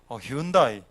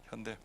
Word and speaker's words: Hyundai: 그 당시에 그 차에 대해서 우리가 잘 모를 때 버스를 타고 가면 항상 차 앞에 트럭이나 승용차 뒤에 HYUNDAI 현대 아닙니까?